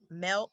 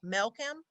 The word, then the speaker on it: Melkam: Is it "Mel-come"? MELKAM : That's right, yes. It's like "welcome" with M, but it's spelled differently. So Melkam.